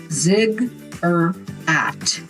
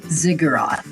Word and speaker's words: ziggurat: It's pronounced zigurat. Ziggurat. Ziggurat. Ziggurat. Yeah, ziggurat. That That's how you pronounce it.